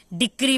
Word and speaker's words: decree: जैसे कि देखिए यहाँ पे डिक्री मैंने लिखा है DECREE, तो सी को हम